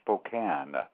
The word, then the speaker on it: Spokane: to be here and for your future information the town is called Spokane Hospital can thank you very much for correcting you it looks like it's Spokane but it's actually pronounced